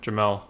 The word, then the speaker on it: Jamel: Is it Jamal or is it Jamel? Jamel.